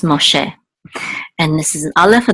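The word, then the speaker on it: משה: more share and okay this is Moses in English and Hebrew it's Moshe and this is Allah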